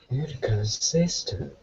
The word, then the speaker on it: inconsistent: after the nend yes how many syllables in this word four yes good where is the emphasis uh on the third Sy which sounds like sure I inconsistent very good say the word inconsistent okay what does inconsistent